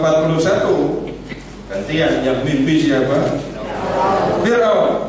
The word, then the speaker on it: Fir'aun: Fir'aun, bacanya Fir'aun. Ya. Bukan Firaun. Fir.